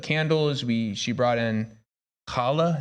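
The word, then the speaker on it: challah: we she brought in Hala is that right is that how you say it the bread yeah okay I want to make sure kala yeah and um yeah I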